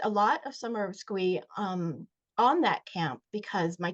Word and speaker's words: Squee: So, the acronym SCCWEE sort of lends itself to being pronounced Squee.